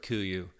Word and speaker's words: KUIU: Unless you're an experienced sheep stalker, you've probably never heard of KUIU, named after an Alaskan island pronounced KUIU.